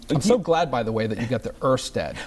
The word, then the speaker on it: Ørsted: JEFFREY: YOU GOT THE ORSTED PRONOUNCEMENT. TED: I SWITCHED THROUGHOUT THE SHOW. THE DANISH JEFFREY: -- JEFFREY: THE DANISH O IS PRONOUNCED AS ER.